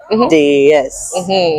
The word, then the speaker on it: Déesse: I hope I pronounce it Déesse. Déesse. Déesse. Déesse. Déesse. Yeah, Okay. perfect. So we go Déesse.